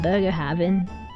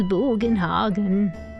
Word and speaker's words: Bugenhagen: It's not Burger Haven. It's Bugenhagen.